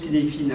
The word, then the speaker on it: Cynefin: Ça se prononce Cynefin, hein, c'est du gaélique, je crois.